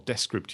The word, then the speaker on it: Descript: kind of multi-dimensional things, Descript or Descript, if you want to pronounce it the French way, is actually quite an interesting platform.